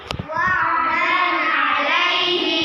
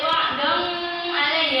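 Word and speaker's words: وَعْدًا عَلَيْهِ: Wa'dan alaihi. Bacanya enggak boleh wa'dong alaihi, ya, itu kurang tepat. Bacanya harus jelas.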